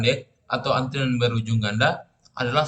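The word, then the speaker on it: deque: berakhir ganda jadi pada deq itu diucapkan Dek atau antiran berujung ganda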